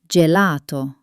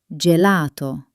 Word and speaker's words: gelato: gatto or gabbiano But before e or i, it turns into a soft j sound, like joy. ge gi Like in my favorite dessert, gelato. Remember, it's a soft j. gelato or giorno as in buongiorno.